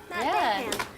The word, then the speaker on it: Dahan: Dahan. For the music, thank you. I was gonna say Dahan. It's I want to say Matt regal. Dahan. It's a regal way to say his name.